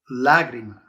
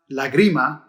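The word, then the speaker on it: lágrima: at this word lagrima you see how that accent mark is over that first a so it tells you to stress the first syllable lagrima it's not lagrima and it's not lagrima so you see anytime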